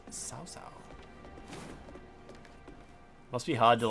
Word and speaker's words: Cao Cao: And Cao Cao is pronounced Sao Sao.